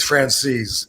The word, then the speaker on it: Franzese: Says, the way he pronounces it is Franzese.